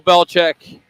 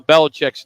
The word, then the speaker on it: Belichick: all been pronouncing Bill Belichick's name incorrectly over the years. We've all been saying it wrong. Check out how Bill says it. It'll blow your mind. My dad's name was Stephen Nicholas Belichick.